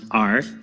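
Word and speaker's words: 耳: This one means ear, and it's pronounced r.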